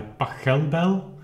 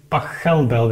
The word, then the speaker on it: Pachelbel: on the fact that the pronunciation of Pachelbel is actually Pachelbel and not Pachelbel, like I was used to do, and apparently many people.